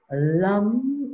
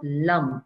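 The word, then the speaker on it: लं: it's four petals and the sound vibration here is lum it's not lum you don't say la ma ma is silent it's la that is the sound vibration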